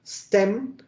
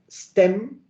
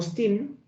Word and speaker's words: STEM: el acrónimo de stem se pronuncia stem la e como en inglés y en español en este caso suenan igual stem no steam para que todos lo